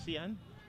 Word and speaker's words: Sean: Well, interestingly, the captain's name is spelled Sean, but it's Sian.